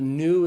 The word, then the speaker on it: nu: That's the N sound. So the nu is pronounced like the N in the English word new. But then we have another